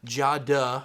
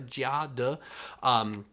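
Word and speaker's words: 佳德: This brand, which is Jia De, I think I'm pronouncing that right if my Mandarin's a little better, Jia De. Even though it's spelled Chia Te, of pineapple pastries.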